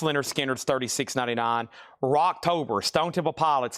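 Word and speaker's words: Lynyrd Skynyrd: Pronounced Leonard Skinner's, $36.99.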